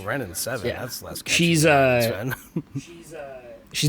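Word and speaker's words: Wrenn and Seven: I was wondering because I always misread it as Ren Sven. That name keeps coming up because it rhymes. Because it rhymes. And then one day I looked at the card, really looked at it, and oh, Ren and 7.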